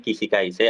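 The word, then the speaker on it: 起死回生: Ini bacanya Kishikaise, artinya Kishikaise itu hidup kembali, kalimat kiasan, quotes kiasan dari hidup kembali setelah mati.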